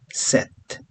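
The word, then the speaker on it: sept: Sis, seven is set. The P is silent here.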